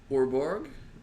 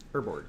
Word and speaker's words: Urborg: Orborg, or however you pronounce that, makes all your lands swamps. Urborg.